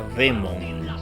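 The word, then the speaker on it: δαίμων: las voces interiores que en griego se dice se escribe daimon y se pronuncia Demon Demon y de ahí surge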